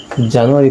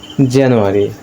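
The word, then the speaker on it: January: তো আমরা যেটাকে জানুয়ারি পড়ে আসছি এতদিন ধরে, তো এর সঠিক উচ্চারণ হচ্ছে জানুয়ারি। জানুয়ারি আমরা যাকে একটু জে সাউন্ডে পড়বো, জানুয়ারি জানুয়ারি।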